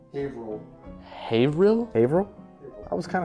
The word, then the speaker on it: Haverhill: It's pronounced Haverhill.